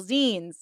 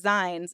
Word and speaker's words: zines: by distributing the temple z. I said it right, guys. I said it right. I first said zines and then I backed up and said z.